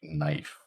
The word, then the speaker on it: knife: gnome and it's the same thing with a word like knife that K is not making a sound in Modern English so it's a silent letter it has no sound